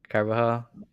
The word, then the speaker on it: Carbajal: Carbajal, is that how you pronounce it? Yep. Carbajal.